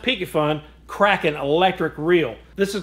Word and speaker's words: Piscifun: on the brand new pfun pronounced pyun Kraken electric reel this